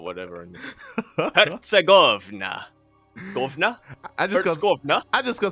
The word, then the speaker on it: Herzegovina: Wait, is it Hertz or Hertz? Hertz, right? Wait. Herzegovina? No, but does Hertz have a T? Herzegovina. It's just like when you have 200 megahertz or whatever. Herzegovina.